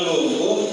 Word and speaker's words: Lombok: Lombok, pengucapannya Lombok, tapi kan tertulisnya Lombok.